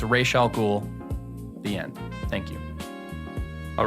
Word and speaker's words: Ra's al Ghul: Father's name was pronounced Ra's, not Raz. A common mistake. It's pronounced Ra's. It's Ra's al Ghul.